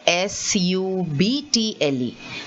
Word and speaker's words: subtle: then you have subtle see this word s-u-b-t-l-e the b is not said at all there you say subtle then you say succumb